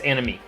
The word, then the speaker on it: anime: The way I remember it is who was wrong? Anime. I me was wrong. Me was wrong. I was wrong about the pronunciation. me was wrong and that's how I remember it's anime.